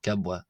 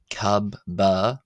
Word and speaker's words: ⲕⲁⲃⲃⲁ: you'll see here that it is transliterated and pronounced not cabba but cababwa and that's because generally the b uh or wada as we see s saw earlier is uh pronounced as a w but when you have two bs like this the first b will be pronounced as a b and the second one as a w so that's why it's the letter kabwa gabwa then we have